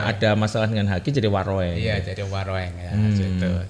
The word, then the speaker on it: Waroeng: ya Mas Ranto ya Warung Steak ini bacanya Waroeng betul Waroeng tapi kalau bacanya warung aja ya umumnya gitu iya ya sebelumnya asalamualaikum